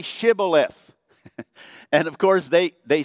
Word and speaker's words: Shibboleth: Well, say Shibboleth. And of course, they said Sibboleth. They couldn't pronounce the word the way this particular group of from Manasseh could.